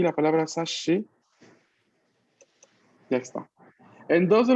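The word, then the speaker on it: 雑誌: Que muchas de las veces, pues, en este caso, cuando al momento de pronunciar doble S, pues no pronunciamos realmente doble S, sino doble sh, ¿no?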